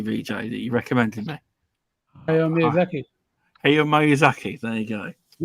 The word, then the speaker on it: Hayao Miyazaki: Hayao Miyazaki.